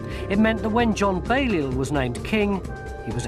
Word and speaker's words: Balliol: Now, you can say Bailie because it's always written down as Balliol with an L, and in the documentaries they do pronounce the L, but it was a Norman French name and sometimes they didn't pronounce the L, and that's how it eventually changed from Balliol to Bailie.